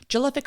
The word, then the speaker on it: Jelic: with 1 n or jelic hommes rhymes with prolific number two what you